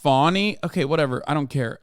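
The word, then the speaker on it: Fani: One is it's pronounced Fawny.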